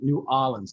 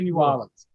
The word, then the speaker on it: New Orleans: New Orleans. Did I say it right? New Orleans. Yeah. And Dean, you're from close to New Orleans. How do you say New Orleans?